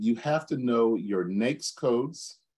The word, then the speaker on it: NAICS: Second, you have to know your NAICS codes. It's like rhymes with cakes. NAICS codes and your UNSPSC codes.